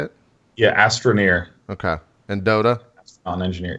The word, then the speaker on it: Astroneer: Yeah, Astroneer.